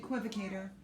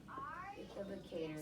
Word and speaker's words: equivocator: Equivocator. Equivocator.